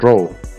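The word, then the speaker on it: rho: density is also designated the greek letter r pronounced row and the dense material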